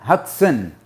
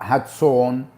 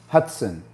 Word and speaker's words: Hudson: a rank in the army um david hudson hudson hudson not hatson hotzone hudson so it was double park double parked first